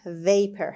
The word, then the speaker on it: vapor: اولین کلمه درس امروز vapor هست. Vapor. خب همونطور که میبینید باز او آر آخر به شکل شوا تلفظ میشه.